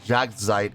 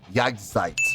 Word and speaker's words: Jagdzeit: was pronouncing this wrong it's not Jack zeit it's jagsites my apologies uh for